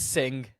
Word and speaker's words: Singh: I'm probably saying his name wrong. It's Sing. Sing.